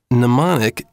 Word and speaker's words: mnemonic: of a mnemonic device by the way mnemonic is probably the only word in english that begins with a silent m also i hope you'll